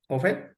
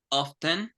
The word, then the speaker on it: often: malware often often ah of is often not often right well some people pronounce often but it's uh it's it's okay to say both to to be honest it's more correct to say often often okay okay MW often